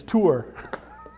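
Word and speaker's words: תור: It's tour. And that's exactly how you say it.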